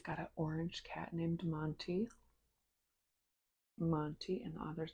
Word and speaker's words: Monty: She's got an orange cat named Monty. Monty, and the author's name is Kate Conti, so it rhymes with her last name.